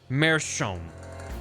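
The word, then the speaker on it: meerschaum: It's pronounced something like Mearsham. Mearsham?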